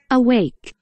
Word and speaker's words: awake: 그 다음에 깨어있는, 그렇죠, 발음은 awake야, awake. Awake. A가 A 소리 났어, awake. Awake. 깨어있는, awake. 잠자고 있는도 있네, 여기에. 잠자고 있는, sleeping, awake. 반대말 관계. 아웨이크.